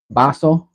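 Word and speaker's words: vaso: In Spanish, yeah, the the B and the V sounds often get mixed up. Baso is cup, but it's spelled V A S O. But since it has the B sound, people, uneducated people will spell it with a with a B vinro.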